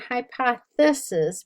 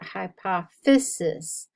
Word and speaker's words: hypophysis: Not hypothesis, but hypophysis.